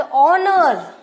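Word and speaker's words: honour: The first letter of the word ऑनर, right, is a consonant but is unpronounced. H is unpronounced and begins with a vowel sound.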